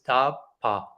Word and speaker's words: tapa: And eventually he hears one word, which is the very first word in this universe, very interestingly, which is ta-pa. 2 syllables.